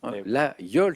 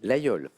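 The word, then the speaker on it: Laguiole: tentation porte le nom d'une commune de l'Aveyron la yole ça s'écrit avec un G8 mais on le prononce exactement comme Bernard là l'a dit la yole et c'est un point de plus Bernard dans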